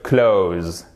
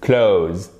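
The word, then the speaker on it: clothes: ne vous embêtez pas vous pouvez simplement dire close là pour le coup ça nous facilite les choses close vous verrez certaines personnes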